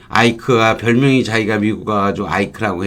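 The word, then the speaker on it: Ike: 뭐, 아이크가 별명이 자기가 미국 가가지고 아이크라고 했다는데, 이크라고 적으니까 누가 이크라고 읽나요? IK로 이크라고 이자 붙여서 했다면, 이크로 하지 않고 아이크, 그렇게 발음을 했겠죠.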